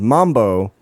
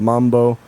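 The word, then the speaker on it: マンボー: net cafe downtown called Mambo uh but it's it's not not uh based on the dance it's based on the fish same pronunciation it's a kind of fish called Mambo uh they spell it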